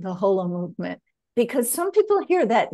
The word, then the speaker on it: Holomovement: remember it that way pronounce it correctly and you say whole Holo movement Holo movement as an whole and indeed you're absolutely